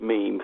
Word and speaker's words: meme: word written down and I never knew how to pronounce it until someone recently actually said the word meme.